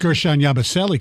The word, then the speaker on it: Gershon Yabusele: But I pronounced Gershon Yabusele correct.